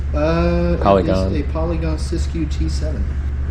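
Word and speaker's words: Siskiu: Uh, this is a Polygon Syscue T7. S I S K U. Are you you say Syscue? Yes. Okay. I can spell that.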